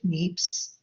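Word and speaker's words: Niépce: joseph meeps okay so this is the correct pronunciation n-i-e-p-c-e joseph neeps 18-26 and remarkably this was taken with uh camera obscura so joseph neeps was a french inventor now usually credited as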